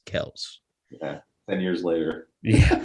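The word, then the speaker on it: Kelce: and ran with it but it's technically pronounced celts yeah ten years later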